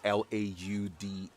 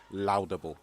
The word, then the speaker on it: laudable: so if you ever come across that word l-a-u-d-a-b-l-e don't be tempted to pronounce it laudable it rather is laudable and that's it for